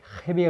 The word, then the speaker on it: Jaime: Donc voilà, pour ceux qui voudraient découvrir apparemment on dit pas Jimmy Reyes, on dit Jaime Reyes. Faut pas prononcer le J apparemment, c'est pas facile, mais bon.